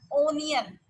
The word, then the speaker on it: onion: U-N आएगा, U-H आएगा, onion.